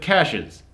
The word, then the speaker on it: Cassius: They pronounce it Cassius. So like 20 minutes in the movie, I realized his name is Cash is Green.